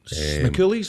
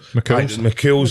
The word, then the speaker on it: McCool's: McCooley's? Is it McCooley's on Sunday? McCool's. Is that how you say it? Oh, sorry. I always call it McCooley's.